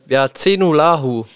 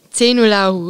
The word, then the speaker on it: Zejnullahu: Ich Zenulahu. Zenulahu. Genau, das ist, war sehr gut ausgesprochen.